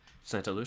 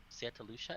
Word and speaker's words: Santa Lucia: followed by Chris from Santa Luca Santa Lua and then Santa Lucia is that how you say it yeah I think I think Vivian said it like that I Santa Santa Lucia okay well Santa Lucia I said Lu I there's like so